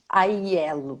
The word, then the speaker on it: Aiello: ajuda a pronunciar o seu nome. É. Aiello? Aiello.